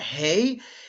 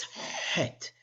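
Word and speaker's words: ח: The chet sound is actually closer to an H. It's not hey, it's het. I'm sure you've heard a Sephardic pronunciation, het.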